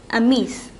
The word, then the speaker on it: amis: It becomes amis. And it is pronounced ami, but you add an s here.